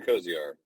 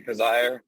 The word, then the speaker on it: Coziahr: this week is Kozar that's right Kozar or Cozier it's because I heard it rhymes with desire desire okay our guest this week is khizire he's a Serial entrepreneur